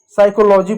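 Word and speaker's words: psychology: जैसे इसको हम साइकोलॉजी पढ़ेंगे। पी साइलेंट है।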